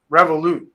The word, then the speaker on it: Revolut: revolt is that am I saying it right revolute yeah revolut is a financial technology company um